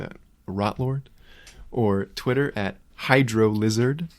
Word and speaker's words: Hydro Lizard: Rotlord or Twitter at Hydro Lizard. Hail Hydro Lizard. It's actually pronounced Hydrolizard, but it's a character on the podcast I did.